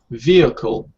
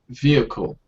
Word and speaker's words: vehicle: pronounced for many students this H in here is actually you don't pronounce it be you know within vehicle vehicle if I even can you say this worthless as well vehicle good Alex vehicle excellent